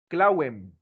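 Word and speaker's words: clavem: En latín tenía otra característica que sonaba como una W. Ejemplo, en el caso que dice ahí, en latín, la palabra para clave era clave, clauem, clauem, clauem. La palabra fue evolucionando hasta que ya no decimos clauem, sino se dice clave.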